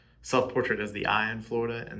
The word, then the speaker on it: Florida: Self-portrait as the I in Florida and then self-portrait as the duh in Florida, which is how you know native Floridaidians pronounce the da part of Florida.